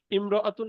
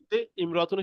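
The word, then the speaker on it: امرأة: দেখেন সবাই খেয়াল করি ইমরতুন শব্দের আগে অন্য শব্দ হলে আলিফটি শুধু লেখা আসে উচ্চারণে আসে না লেখক বুঝাতে চাচ্ছেন ইমরাতুন শব্দের শুরুতে যদি আরেকটা ওয়ার্ড থাকে তো সেক্ষেত্রে এই যে আলিফটা দেখতে পাচ্ছি এই আলিফটা কিন্তু পড়াতে আসবে না লেখাতে আসবে ঠিক আছে যেমন হিয়ামর ইমরাতুনের শুরুতে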